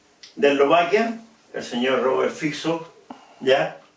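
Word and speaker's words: Robert Fico: Eslovaquia el señor Robert fixo ya se escribe fico pero se pronuncia fiso ya y que ya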